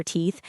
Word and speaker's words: teeth: Put your tongue between your teeth and blow a little air.